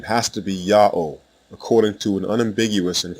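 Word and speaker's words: יהוה: the first letter yah the second letter ha is silent it assumes the sound of the previous vowel and closes the first syllable the third letter W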